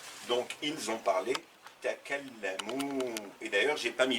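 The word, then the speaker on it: تكلموا: Il au pluriel, il masculin au pluriel, hum, c'est la marque finale, c'est le waw qui va se prononcer ou, suivi d'un alif qui ne se prononce pas. Donc ils ont parlé takallamu.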